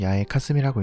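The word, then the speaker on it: 八重霞: 팔 무거울 중 롤하이고 일본어로는 야외 카스미라고 읽습니다 뜻을 직역하면 8개의 무거운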